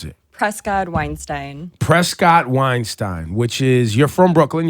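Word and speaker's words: Prescod-Weinstein: what is your last name how do you pronounce it Prescott Weinstein Prescott Weinstein which is you're from Brooklyn yes or your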